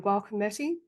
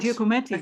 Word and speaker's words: Giacometti: They had at the Kunsthaus they had a whole area on Gualcometti. I'm pronouncing Oh, that Giacometti. Oh, correctly. yeah, yeah, yeah, yeah, yeah. Giacometti, sorry.